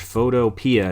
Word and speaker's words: Photopea: you could just search photopia and it's like like p matter of fact it could even be pronounced photo p but i call it photopia but that's okay so